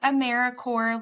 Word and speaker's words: AmeriCorps: We do pronounce AmeriCorps like Apple Corps or Peace Corps. It's not AmeriCorps, so we are alive and well.